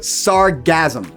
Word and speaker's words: sargassum: This seaweed is known as sargassum. Sounds like the word sarcasm, but sargassum.